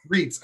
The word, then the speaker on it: Reitz: saying say your last name for me reads reits okay dr galena reads okay good good i didn't want to botch